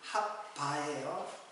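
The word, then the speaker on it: חַוָּה: 이런 데서 온 말이에요 우리는 하와라고 이제 계속 이제 하와이로다가 그 번역을 했기 때문에 한 가정 원래 힙 발음은 핫바예요 자 근데이 하와를 뭐라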